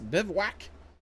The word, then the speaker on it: bivouac: I mean, it's spelled like this. Bivouac.